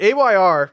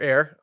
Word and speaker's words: AYR: But AYR, or Air, I'm just pronouncing it both ways.